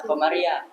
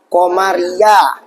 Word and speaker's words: qamariah: Izhar qaramiah. Alif lam qamariah. Iya kan? Bukan izar qamariah ya.